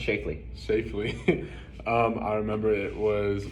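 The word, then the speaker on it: Schlafly: From Phyllis Chafee? Is it I think it's pronounced Shafely.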